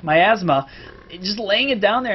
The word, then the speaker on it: miasma: Uh I think I pronounced that right. Myasma. Myasma.